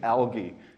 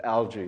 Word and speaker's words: algae: I get sort of confused between the British and Australian pronunciation, algae, and the American one of algae, so I kind of botched both of them together.